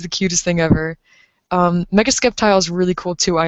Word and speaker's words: Sceptile: I have heard people say Sceptile. I've heard Sceptile. I say it as Sceptile. I'm probably not supposed to pronounce that C. I'm probably not supposed to pronounce that C at all.